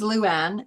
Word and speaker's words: Luann: on LinkedIn okay okay my first name is Luan and it's l u Ann that's just the